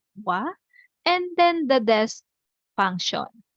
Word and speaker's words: は: topic here is that's Has how did you find this grammar pattern? Any impression? So please don't forget the and the particle. So ha pronounce or read it as wa and then the desk